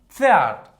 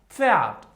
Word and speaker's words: Pferd: Okay, it sounds okay, you have to say it like strong F. Repeat. All right. For example, das Pferd. Repeat after me. Das Pferd.